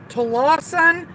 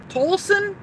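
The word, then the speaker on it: Tolleson: him off and total Lawson home I I don't know how to pronounce that no Tolson Tolson anyway at his aired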